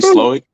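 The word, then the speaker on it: Slowik: Sluick? Well, Bobby Seward. Irving. You know how you say it properly? Bobby Slowick.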